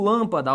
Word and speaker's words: lâmpada: A pergunta que eu faço é, onde que está a sílaba tônica? Você não vai me dizer que é na última, então oxítona não pode ser. Você não vai me dizer que é na penúltima, então paroxítona também não pode ser.